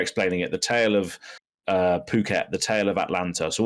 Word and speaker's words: Phuket: I know that it's pronounced, like I said, Phuket now, but honestly, when I first saw it and just first saw how it was written, I just thought it was like fuck it.